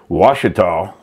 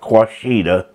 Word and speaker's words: Washita: hard time figuring out how to spell Washita. That's how that is pronounced, not Quashita. How, you know, that's how I pronounced it at first. Washita with an O. It's you pronounce that Washita, Indian name.